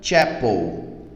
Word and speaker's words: chapel: pronúncia eu falo, olha, chapel, chapel, ok? Chapel, tem um sonzinho de T aí que ele aparece na hora da pronúncia, né?